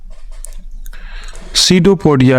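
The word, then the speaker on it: pseudopodia: finger like projection called सीडो पोडिया इसका पी जो है वह साइलेंट है सीडो पोडिया कहा जाता है इसको तो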